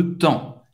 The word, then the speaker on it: temps: Donc, je veux passer plus de temps ici. Você não vai pronunciar o P, não vai pronunciar o S no final.